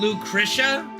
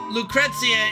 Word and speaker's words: Lucrezia: what do we mean, Lucretia? Well, because Lucrezia is more the Latin pronunciation, and as we know, they love their Latin in Japan. So Lucrezia is more a Latin/Roman pronunciation of the name.